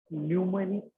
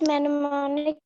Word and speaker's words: mnemonic: symbols are termed as mnemonic codes. Mnemonic code. You can see the spelling of mnemonic. It starts with M, but the M is silent.